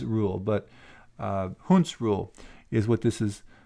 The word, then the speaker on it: Hund's: The name for this rule is called Hund's rule, sometimes pronounced Hund's rule, but Hund's rule is what this is called.